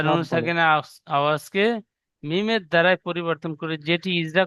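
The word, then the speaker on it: ميم: 15 number মাখরাজ, দুই ঠোঁটের শুকনো অংশ মিলিত হয়ে উচ্চারিত হয় মিম।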